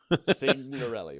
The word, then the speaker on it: Signorelli: You pronounce the G. Signorelli. Mike Signorelli.